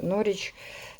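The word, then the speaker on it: Norwich: і norfolк це norрвіч nor nor nor W не читається норч це місто де ми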